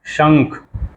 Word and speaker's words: शंख: फिर ख होता है, तो उसको पढ़ते हैं शंख, यानी श, और उसके बिंदी को क्या कहते हैं, कैसे उच्चारण करते हैं, कैसे प्रोनाउंसिएट करते हैं? शंख, शंखंग, शंख हो जाता है।